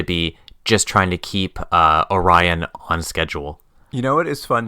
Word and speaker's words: Orion: Orion, O''Ryan? He's like, no, Orion, like the constellation.